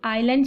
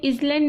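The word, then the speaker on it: island: Well, a chance to by that cottage on द आइलैंड, आइलैंड, सो इसमें इजलैंड नहीं बोलेंगे, एस को क्या कर देंगे? साइलेंट कर देंगे, आइलैंड।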